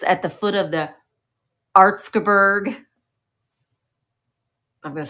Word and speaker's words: Erzgebirge: The Erzgebirge, which I have pronounced wrong. I sent Michael a Marco Polo because Michael and I always have called it Erzgebirge. That's wrong. It's not Erzgebirge.